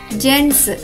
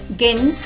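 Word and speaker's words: gents: జి eస్ ఈ పదం యొక్క ఉచ్చారణ అవుతుంది జెంట్స్ గెన్స్ కాదు జెంట్స్ పదండి మరియొక పదం చూద్దాం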